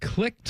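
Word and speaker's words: Clict: Except this is spelled C-L-I-C-T. Clicked. Huh? Say that. What? Clicked.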